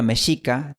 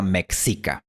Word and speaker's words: mexica: Y cuando hablamos de la antigua cultura mexica, también usamos la pronunciación original con sh. Pero claro, nunca falta algún extranjero que pronuncia mexica. Omeya, maya y mexica.